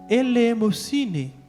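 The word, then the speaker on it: ἐλεημοσύνη: esmola vem do grego uma palavra que nós pronunciamos da seguinte maneira ele é mossini que significa Piedade misericórdia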